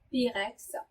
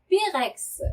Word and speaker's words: pyrex: 예, 영어로는 뭐 Pyrex라 그러는데 불어에서는 이 Y라고 그러는죠. Y가 불어에서는 항상 이 발음이 납니다. 그래서 Pyrex 하시면 안 되고요. Pirex 이렇게 발음하셔야 돼요.